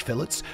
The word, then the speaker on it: fillet: You'll need 100 fine fish fillets, 50 fabulous fish fillets, 10 flavorful fish fillets, and finally, 5 fantastic fish fillets. Yes, that's how we pronounce fillet in England, by the way.